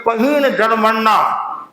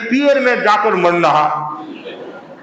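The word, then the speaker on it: पहीणजरमरणा: की अनुभूति होगी और बोलना तो है पहीन जन मरना पहीन जन मरना और आप बोलते हैं पियर में जाकर मरना पियर में जाकर मरना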